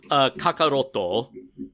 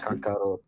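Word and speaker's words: カカロット: Kakaroto. Yeah. Kakaroto. Because everything in Japanese ends in a vowel sound, except for the letter N.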